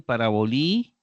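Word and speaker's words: παραβολή: eh terminado en ita también paraboli y el acento en la última sílaba parábola se traduce parábola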